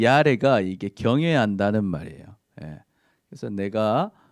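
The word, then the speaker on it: יָרֵא: 경외한다는 말은요, 사실 히브리어로 보면 이거를 야레라고 읽어요. 야레. 히브리어는 거꾸로 읽거든요. 이게 이 소리가 나고 아 소리가 나요. 그 르 소리가 나고 에 소리가 나요. 그 야레입니다.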